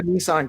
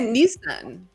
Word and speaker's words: Nissan: my opinion you say Nissan Nissan not Infinity niss Nissan in South Africa well there is two s's so it would make sense phonetically that the eye would be a soft eye you should uh check